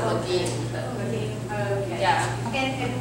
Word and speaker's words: Le Guin: I pronounce it Le Guin.